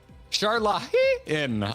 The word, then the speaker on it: Sharlayan: Oh, now we're getting people in chat saying it's not Charlie, and or other people are saying it depends on the character that's saying it.